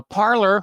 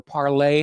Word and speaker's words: Parler: Now, Parler, or Parlay, however you want to pronounce it, has filed a lawsuit against Amazon over the ban from the Amazon Web Service servers.